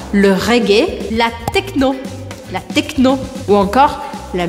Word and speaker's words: reggae: Le jazz, le rap, la salsa, la musique classique, le reggae, que se faz a sílaba forte no final, le reggae, la techno, ou encore la musique électronique.